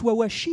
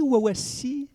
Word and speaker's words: Wawashi: micro monibbe jabala alors déjà sur la prononciation de l'entreprise j'ai entendu une petite prononciation c'est plus wawashi wawasi très bien il fallait